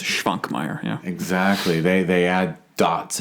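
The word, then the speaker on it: Švankmajer: Well, and check the S that has a little caret on top. That's a sh sound, so it's Schwankmajer.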